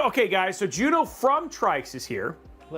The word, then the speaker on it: TRYX: So and and confirm right Juno it is trikes. TR R YX trikes like a tricycle and not trix or trikes.